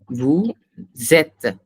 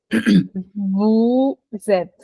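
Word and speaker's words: vous êtes: Vu zet again again I hear r no Vu zet Vu zet yes that's correct so you pronounce the Wu without the S exactly and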